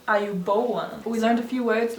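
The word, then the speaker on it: ආයුබෝවන්: I don't think you pronounced it correctly. Yeah, you did. Ayubowan.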